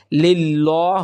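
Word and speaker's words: لله: তাহলে আমরা লা পড়বো সুতরাং এখানে লিল্লাহ হবে না এখানে আমরা পড়বো লিল্লাহি লিল্লাহি রব্বিল রব্বিল রব্বিল আলামিন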